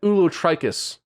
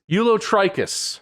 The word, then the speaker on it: ulotrichous: you can stop oh it's O us not just us okay ulot trius does it stand for